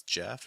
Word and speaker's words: Jeff: Hello, my name is Jeff. It rhymes with breath.